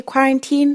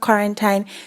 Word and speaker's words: quarantine: It's actually quarantine, not quarantine.